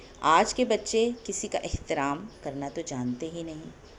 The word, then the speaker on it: احترام: اس طرح نظر آئے، اور تلفظ کے لیے یہاں زیر ہے، الف کے نیچے زیر ہے، تو اس کی ادائیگی کے وقت اس بات کا آپ خیال رکھیں۔ روزمرہ کی مثالوں کے